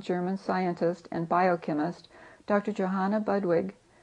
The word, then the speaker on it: Johanna Budwig: scientist and biochemist Dr Johanna budwig pronounced in German Yana Budig who healed Advanced and